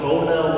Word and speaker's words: Boehner: I was like, I don't know, what is this guy, John Boner, why are you talking about it? He's like, Boehner. I was like, that's not how it's spelled, that's Boner.